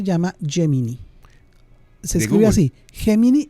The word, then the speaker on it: Gemini: Gemini y es de Google oy lo se puede pronunciar en inglés.